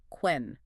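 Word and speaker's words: cwen: In Old English, that was spelled C-W-E-N, quen.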